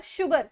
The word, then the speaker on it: sugar: Next जब हम स को श की तरह प्रोनाउंस करते हैं, दैट इज SUGAR शुगर, श।